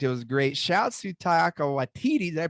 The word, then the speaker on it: Taika Waititi: Shouts to Taika Waititi. Did I pronounce that right? Taika Waititi, I believe. Taika. Okay. I put the emphasis on the wrong syllable there.